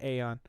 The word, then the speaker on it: Aeon: All right, anyway, starting with Eon Drive. There was... Did I say it right? Eon? Yes, Aeon. I would say Aeon.